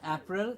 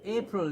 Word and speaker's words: April: after March happy April it's not April it is a April April just like the apron that we were before we cook that's the same April and then it's May